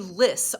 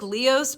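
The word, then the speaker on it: lios: The old man's like, "Okay, I know that there is a list on your farm." And a lis looks like Leos, but the Irish pronunciations are telling me it's list.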